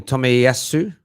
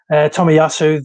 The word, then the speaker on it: Tomiyasu: I now how to forget how to pronounce his name. Tomiyasu.